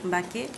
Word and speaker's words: Mbaké: Alors, on parle de lignée, tu es Bousso, mais le Cheikh, c'est Cheikh Ahmadou Bamba Mbaké. Si je prononce bien, c'est ça, oui. Mbaké?